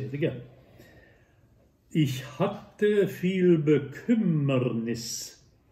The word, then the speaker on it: hatte: Ich hatte viel Bekümmernis. Hatte, real double T, Bekümmernis, real double M.